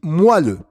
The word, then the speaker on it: moelleux: le il se prononce à il ne se prononcent pas et d'accord dont on dit moelleux et makinwa tour des moins de 20 ans